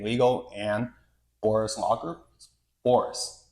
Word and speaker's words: Bourhis: It's technically Bourhis. What's Bourhis? Bourhis is the French pronunciation of my last name, but we butchered that when my family came to the U.S.